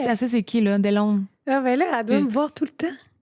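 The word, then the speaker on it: Deslaunes: Mais son nom de famille, je serais pas capable de le prononcer correctement, donc je m'excuse d'avance, mais c'est Delone. Et? Delone.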